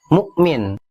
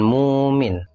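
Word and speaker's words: مؤمن: seperti pada kata ini dibacanya Mukmin bukan Mumin dan seperti berlaku pada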